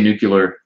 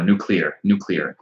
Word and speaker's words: nuclear: I say nuclear wrong. I know. Nuclear. I'm working on it, man. I'm working on it. Try not to say it like George W. Bush.